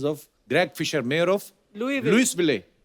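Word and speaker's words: Louisville: Greg Fisher mayor of लुई will Lewis बिले लुई will तो ऐसा क्यों फिर लिखा है मेरे को बताओ आज आगे तभी बढ़ेंगे लुईस जब लिखा है तो स क्यों नहीं बोल रहे हैं जैसे नाइफ में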